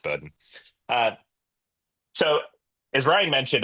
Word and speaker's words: Bowdoin: it is pronounced Bowdoin.